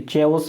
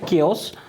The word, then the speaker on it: chaos: देखो इसको स्पेलिंग इसका हालांकि CH होता है, ठीक है। चेओस वेओस ऐसा कुछ बोलना नहीं है। इसका प्रोनाउंसिएशन होता है केओस और इसका मतलब होता है अफरा तफरी।